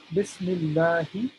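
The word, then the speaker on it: بسم الله: So there's good news, mashallah, is that there's nothing special going on as far as having to pronounce any kind of ayn or ha or anything special. We're simply saying Bismillahi.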